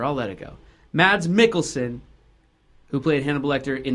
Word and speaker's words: Mikkelsen: the way, is spelled, it should be pronounced Michelson, but whatever, I'll let it go. Mads Mikkelsen, who played Hannibal Lecter in the TV show Hannibal, starting in 2013.